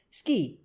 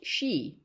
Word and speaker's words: Ski: "Yes'm, Ski, Elmer Ski. No'm, not pronounced she.